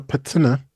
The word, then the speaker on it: patina: As for altruism, I think I am quite altruistic, but it manifests itself through a patina. I think that's how it's pronounced.